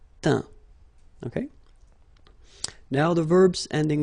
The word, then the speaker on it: teint: Okay, as usual, final T not pronounced. Atteint, éteint, feint, peint, teint.